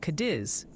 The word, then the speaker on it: Cadiz: Oh, and the pronunciation posse sends its regards. Multiple viewers are suggesting it's Cadiz, Ohio, and Irondequoit in New York.